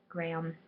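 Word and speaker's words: Graeme: are weird sometimes and it's spelled strange it's g-r-a-e-m-e Graham it's a weird way of doing that anyway those are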